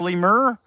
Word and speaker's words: lemur: It's pronounced lemur.